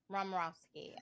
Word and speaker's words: Romirowsky: as I can but I said a soft rosi rowski yes rowski okay aop okay well we're